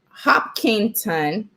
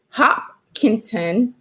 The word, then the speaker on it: Hopkinton: mother in related news hopkinton h-o-p-k-i-n-t-o-n i guess i was mispronouncing it hop content schools closed early on